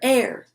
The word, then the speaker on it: heir: a very funny image h is for air the honest heir admits that herbalism isn't